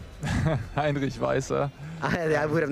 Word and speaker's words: Heinrich Weiser: Heinrich Weiser.